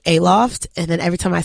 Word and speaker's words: Aloft: Put the emphasis on the wrong syllables.